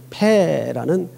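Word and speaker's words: פ: 근데 그 글자 그 발음은 패라고 합니다. 패.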